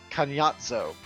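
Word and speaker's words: Kainazzo: So the original name is pronounced Kanyatzo.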